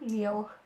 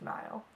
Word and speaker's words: Niall: And I realized that I've been saying my true love's name wrong for like 3 weeks, telling everyone I'm in love with Neal, and his name was Niall.